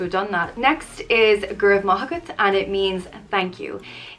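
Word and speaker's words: go raibh maith agat: done that next is guru mahakat and it means thank you it translates to may you have goodness on you but it just means thanks it's pronounced go rev ma and as i said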